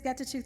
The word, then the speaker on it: Getachew: How do you pronounce his name? It is Getachew, thank you.